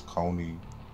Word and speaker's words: Kony: pronouncing this guy's name I know it's not Cooney it's Coney and I did it